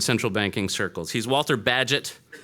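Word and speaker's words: Bagehot: of sorts and Central Banking circles he's Walter badgett not bagahot as it's spelled and pronouncing it incorrectly at least among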